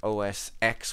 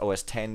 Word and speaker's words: OS X: and in in mac os x which is somehow supposed to be pronounced os 10 even though every other